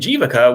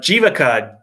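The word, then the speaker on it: Jivaka: just says um so the v is not super pronounced it kind of sounds a little bit more like a w um all right so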